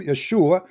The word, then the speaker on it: Yeshua: you calling him Jesus because they could not pronounce it in the correct way in the Latin language so the name Yeshua became Jesus oh they can say